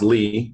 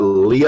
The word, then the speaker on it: Lea: which last name is which pronounce Li don't forget that people always say is that Lea and I said I don't know do you